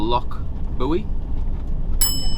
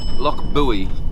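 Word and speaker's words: Loch Buie: First port of call for us is somewhere called Loch Buoy. Loch Buoy, I think that's how it's pronounced.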